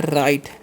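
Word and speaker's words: write: Boss इसे पढ़ते हैं राइट। क्या पढ़ते हैं? राइट। डब्ल्यू साइलेंट होता है।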